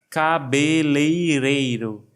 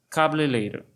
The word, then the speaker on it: cabeleireiro: Cabeleireiro, uma das palavras mais difíceis de se pronunciar em português. Vamos treinar cabeleireiro. Cabeleireiro. Se você está com dificuldades, não se preocupe, porque muitos de nós também pronunciamos errado. Sempre sai uma coisa meio rápida, como cabeleiro.